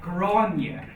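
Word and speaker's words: Gráinne: In some situations is pronounced ye, like granye.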